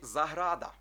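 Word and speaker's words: zahrada: вірніше літера Z або звук з передає нам у слові заграда заграда так всі думають що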